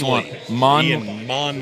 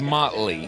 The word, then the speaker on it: Monley: come together out in monley Oh I thought it was Motley like crew it's Ian monley no I think I